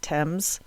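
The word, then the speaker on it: Thames: river in England and I hope I pronounced it right or you all are going to comfort me about it it's spelled t h mes but I believe it's pronounced Tims they drop the Box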